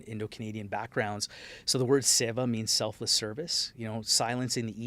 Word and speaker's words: Seva: Am I pronouncing it correctly? Yeah, Seva.